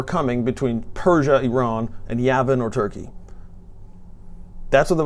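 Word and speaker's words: Yavan: So when this final battle comes, and there's this leader from what we call Turkey today, or Yavin, J-A-V-A-N or Y-A-V-A-N is the Hebrew pronunciation.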